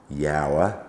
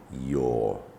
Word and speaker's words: your: But no, in this word, the OU simply makes the long U sound, you. And when we take the word you and put R at the end, R's coming onto the scene again, we don't say yower, we say your.